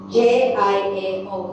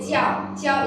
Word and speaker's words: 叫: Jiao. Let's do it one by one. Yes, yao and yes. How do you pronounce this? This is a 叫，这个是见，所以叫 is like call somebody, okay?